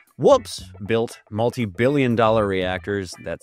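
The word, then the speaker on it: WPPSS: An acronym pronounced whoops.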